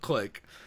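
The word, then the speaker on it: clique: of people who don't specifically say how to pronounce pout click because I have been looking for the show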